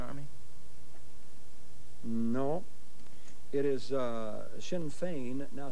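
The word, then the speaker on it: Sinn Féin: it Irish Republican Army no it is uh Shinn Fein Now spell it for me h-i-m-f-a-n-e it's s-i-n-n-f-e-i-n no points on the 30.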